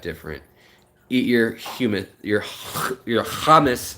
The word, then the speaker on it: hummus: Eat your humus, your hummus, not your humus. If you say it like my family in Israel, then it's hummus.